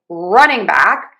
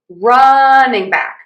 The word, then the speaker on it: running back: So, to say running back, we are going to again stress run unstressing and then stress back. Running back, running back, running back, running back, running back.